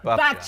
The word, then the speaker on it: Babcia: Babcia.